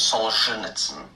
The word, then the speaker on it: Solzhenitsyn: So the author's name is Solzhenitsyn.